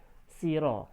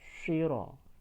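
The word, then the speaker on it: صراط: Huruf shad pengucapan berbeda dengan huruf sin. Siro, salah. Kalau siro itu huruf berarti yang bunyi huruf sin ya. Karena di sini huruf shad berarti bacanya syiro.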